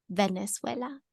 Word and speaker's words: Venezuela: don't see a w I don't see a w no there is no W it's v n e z u e l a Venezuela so that's just how